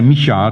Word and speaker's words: Michal: Because now the other daughter of Saul is introduced, Michal, however you pronounce that. Now, I say Michal because I believe that's how the Hebrew would pronounce it. I don't know how the Americans do.